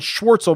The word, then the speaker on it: Schwartzel: And there is another question right below about Charles is how he pronounces it, Schwartzel, which is hard to say, laying the blueprint.